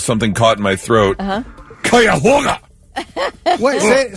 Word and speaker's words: Cuyahoga: Cuyahoga. Wait, say it, though. Cuyahoga.